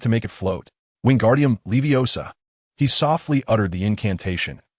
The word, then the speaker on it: Leviosa: Remember, it's not Leviosa, but Leviosa. The emphasis is on the final syllable.